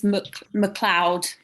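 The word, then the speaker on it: Macleod: i get i think the general consensus for the pronunciation is mcleod coming from youtube just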